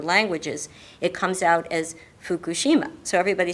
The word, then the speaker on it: Fukushima: have to explain one thing about it the pronunciation of the word fukushima everybody says fukushima and i've said that too myself because i'm so used to the american pronunciation but the correct pronunciation is fukushima and i try to correct my pronunciation when